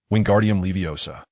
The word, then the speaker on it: Wingardium Leviosa: When reciting the incantation, ensure you pronounce it correctly, Wingardium Leviosa.